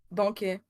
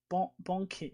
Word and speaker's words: banquet: So stream info, you already got that, but how I can really say Banquet right in French because it's a French word. So it's pronounced Banquet. Banquet, okay.